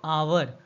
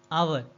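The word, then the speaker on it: hour: हिंदी में हम इसको क्या बोलते हैं, हिंदी में हम बोलते हैं इसको आवर, आ व र, आवर। आवर यानी कि इसकी शुरुआत हिंदी में किससे होती है, अ से शुरू होती है।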